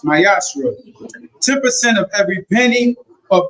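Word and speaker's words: מעשר: You can find it in numbers 18 verse 21 and Malachi 3 verse 8-10 means tip in Hebrew is pronounced myashra 10% of every penny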